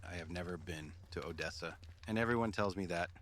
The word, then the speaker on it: Odessa: You know, what's in Odessa?